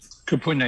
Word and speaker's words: kupuna: over 20 years ago his how do you pronounce this kupuna kupuna yes that's ancestors in hawaii ancestors spoke to